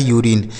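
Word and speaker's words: urine: से न लिखा है यूरिन तो यू के बाद अगर कोई भी एक वोवेल लिखा गया हो तो यू का उच्चारण हमें यू पढ़ना होता है जैसे यूनियन यूनिक यूरिनल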